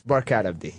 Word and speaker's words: Barkhad Abdi: We're trying to figure out, is it Barkhad Abdi? Is that how you say it, or am I saying it wrong? It's Barkhad Abdi.